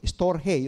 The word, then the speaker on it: storge: Another ano, another word ng pag-ibig sa Griego ay tinatawag na storge. S t o r g e. Storge o storhe. 'Yung ibang pronunciation.